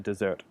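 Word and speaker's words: dessert: past tense is caught desert and desert now the let's say the stress is on a different letter in each of these words but a desert the first is like the Sahara and then the desert you notice the slight change their desert is like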